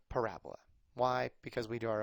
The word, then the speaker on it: parabola: equation is called a parabola emphasis on the ra so if you're putting